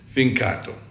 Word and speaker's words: Fincato: My Italian sucks, but it's Fincato.